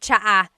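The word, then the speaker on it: tsa: Polyglot said it's like the word cha. Cha in Tagalog is T like the tea that you drink. And it's spelled T S A. Cha. Cha. That's such a Tagalog spelling. I love it. There's the TS sound and then the double vowel uh pronunciation.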